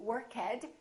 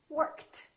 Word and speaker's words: worked: a voiceless sound so the past tense of work is not going to be workhead it's going to be T worked worked let's practice a few